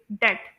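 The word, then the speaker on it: debt: जो उधार एक इंसान ने देना होता है या लेना होता है तो अमेरिकन प्रोनंसिएशन में इसे प्रोनाउंस करेंगे दैट और ब्रिटिश प्रोनंसिएशन में भी इसे प्रोनाउंस करेंगे दैट इसमें बी साइलेंट होगा ठीक है दैट और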